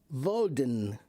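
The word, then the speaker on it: Woden: But a long time ago, the way that they spelled it and pronounced it was Valden, and it was D. Uh W O D E N Voden.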